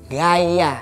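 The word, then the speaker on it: Γαῖα: Gaya. Nah, gaya ini dalam bahasa Yunani yang artinya adalah Dewi Bumi. Nah, gaya juga.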